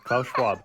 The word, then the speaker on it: Schwab: Klaus Schwab, 2 syllables, fuck off. Klaus Schwab, it's not.